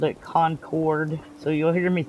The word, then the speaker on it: Concord: When I first started playing this, I called it Concord. So, you'll hear me say that sometimes, but I guess it's supposed to be pronounced conquered, as in conquered the world kind of stuff, I guess.